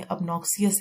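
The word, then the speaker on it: obnoxious: अब इसको हम याद करेंगे अब नो सी अस, क्योंकि अगर हम इसकी प्रोनाउंसिएशन देखें अबनॉक्सियस है, तो अबनॉक्सियस, अब नो सी अस, अबनॉक्सियस, यानी कि अब हम नहीं देखना चाहते।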